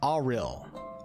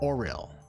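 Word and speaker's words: Auril: won't freeze to death pronounced as ail ail not oril ail also known as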